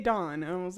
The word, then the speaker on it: Dawn: this I'm like yeah we don't pronounce the W he's like you're supposed